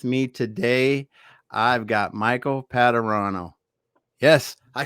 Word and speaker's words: Padurano: and with me today i've got michael patterano yes i said it right thank you so